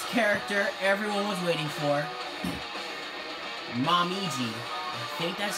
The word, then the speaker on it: Momiji: have the greatest character everyone was waiting for mom easy hate that's how you say her name but yeah